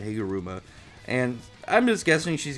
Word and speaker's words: Higuruma: find some information on how to pronounce his name, Higuruma. Higuruma. I was gonna say Higurama, but Higuruma.